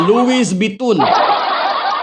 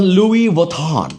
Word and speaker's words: Louis Vuitton: Carla Barrera, Louis Bitun. It is pronounced as Louis Vuitton. That's how you pronounce it, Louis Vuitton.